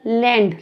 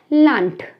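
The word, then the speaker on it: Land: लैंड लिखा हुआ है, तो हम इसको लैंड बिल्कुल नहीं बोलने वाले, हम इसको बोलने वाले हैं लांट। तो यहाँ पर बिल्कुल साउंड का आपने ध्यान रखना है कि जो ये डी है, हमने इसको लांड नहीं कहा है, हमने इसको कहा है लांट।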